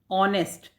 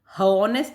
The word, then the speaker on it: honest: नेक्स्ट देखिए ऑनेस्ट, ऑनेस्ट, इसको हॉनेस्ट नहीं बोलते, ऑनेस्ट बोलते हैं, यानी यहाँ से बोला जा रहा है, ये ऑनेस्ट ही बोला जा रहा है। इसमें क्या साइलेंट है, इसमें आपका एच साइलेंट है।